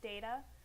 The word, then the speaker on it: data: Let's take a look and see how do we use data to make prevention decisions. Pronounced data, sometimes pronounced data, all we need to know is that data-driven decision-making is based on information.